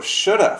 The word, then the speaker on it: Shoulda: crazy pronunciation of CA Shoulda Woulda how do we get CA from could of or Shoulda from should have or what of from